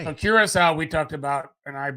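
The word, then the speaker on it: Curaçao: Is the it beaches- Curacao or Curacao? I call it Curacao. I feel like Um, you're more accurate in your pronunciation. Well, it's like, cocoa cake, cocoa key.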